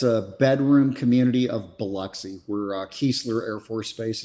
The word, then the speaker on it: Biloxi: Yes, which is your D'Iberville, Mississippi, which is it's a bedroom community of Biloxi, where Keesler Air Force Base is at.